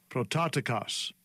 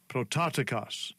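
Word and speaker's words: πρωτότοκος: This is the pronunciation of the Greek. Strong's G 4416. Prototikos. Prototikos. Prototikos.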